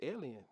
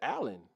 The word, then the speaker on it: Allen: of people got fried that's alien no no no it's Allen yeah Allen I want to make sure I'm saying it right d JN in the building in the chat I want to say alien but it's not that's not how alien is spelled that's not how Allen is spelled he's in the building